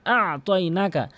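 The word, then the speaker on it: أعطيناك: কেউ যদি বলে আ'তাইনাকা তাহলে ভুল অর্থ হবে, আর যদি কেউ বলে আ'তাইনাকা তাহলে সঠিক অর্থ দাঁড়াবে। আ'তাইনাকা তাহলে সঠিক অর্থ হবে আমি আপনাকে দান করেছি। তাহলে উচ্চারণ করতে হবে আইনটি হলকের মাঝখান থেকে আ আ। আমার সাথে প্র্যাকটিস করবেন। আ আ এভাবে।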